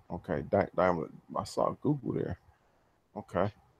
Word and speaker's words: Daimler: excuse me, Toyota, Volkswagen, Daimler, and Google. Okay. It's actually pronounced Daimler. Oh, Daimler. Okay, Daimler.